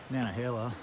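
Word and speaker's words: Nantahala: look at the uh nanahala there's a t in the word but i don't think you pronounce the t i think it's nanahala hill and i pick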